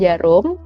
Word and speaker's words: Djarum: best one the jeruk jadi kayak bacanya itu besok jarum tapi ada D yaitu ya kita rezeki